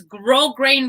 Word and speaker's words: grosgrain: on google gold and i googled how you pronounce it and it's grosgrain ribbon just so you guys